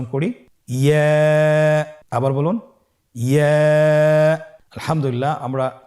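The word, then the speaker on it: ياء: ইয়া। ইয়া হরফটি উচ্চারণের ক্ষেত্রে বারিক হবে এবং 1 আলিফ টেনে পড়তে হবে।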